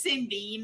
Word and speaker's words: Sindy: yeah, it's just Cindy, normally spelled Cindy. Mama decided to be different and spell it with an S.